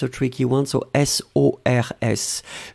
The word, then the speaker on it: sors: So S-O-R-S. Je sors, you don't pronounce the final S.